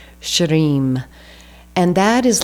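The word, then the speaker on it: shrim: then the next one same Mantra but substituting sh so s h r i m I have a hard time rolling the r right after the sh but shim and that is like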